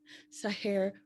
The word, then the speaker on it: Seher: The way she taught me to pronounce her name. Seher rhymes with hair.